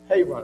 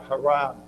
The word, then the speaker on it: Haran: Terah took Abram and Sarai and Lot and moved up from into Haran, or Haran is pronounced sometimes. We do call it Haran.